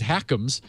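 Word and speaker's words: HACMS: has something called hakam's sort of an awkward acronym but Professor way to pronounce it as hakam's where their funding various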